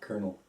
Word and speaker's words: colonel: probably like colel no colel colel kernel yeah colel colel Colonel colel just like a like a popcorn kernel kernel yeah but it